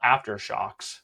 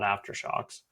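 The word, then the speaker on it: AfterShokz: But when I first saw them on Amazon, it was called Aftershocks, but it's spelled after SHOKZ, and misspellings kind of reflectively make me cringe.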